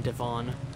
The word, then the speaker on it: Devon: 8 little sailor boys traveling in Devon. One said he'd stay there, and then there were... Okay, so it is pronounced Devon.